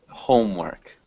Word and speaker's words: homework: Homework. Homework. Yeah, so we don't ever pronounce that E. That E is silent.